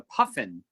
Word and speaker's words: puffin: The second paragraph, it's pronounced the puffin, Puffin.